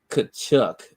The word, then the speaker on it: Tkachuk: Matt Tkachuk, the T is silent, by the way, y'all, has irritated me to no end this entire absolutely just irritating.